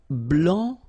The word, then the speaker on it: blanc: so here, masculine, blanc, don't pronounce the final C, and then blanche.